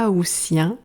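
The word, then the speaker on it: aoûtiens: Ainsi, On parle des juilletistes pour les personnes qui partent en juillet et des Haussiens, le T est prononcé S, pour les personnes qui partent en août.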